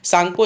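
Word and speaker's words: Tsangpo: टी मत पढ़ लीजिएगा, टी साइलेंट है यहाँ पर, सांगपो इसका नाम होता है हमारे पास।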